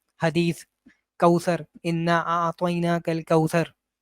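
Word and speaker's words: كوثر: हैं कि वो इबने कसीर जो होता है उसको उसको पढ़ते हैं इब्ने कथर इबने कथर प्रोनाउंस कर रहे होते हैं वो या और भी कोई जैसे सूर कौसर को पढ़ेंगे सूर कौथर तो ये इसका जो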